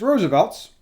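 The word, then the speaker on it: RSVLTS: allowed RSV LT s if you've seen that brand and you're not sure how to pronounce that it's Roosevelt's we asked them they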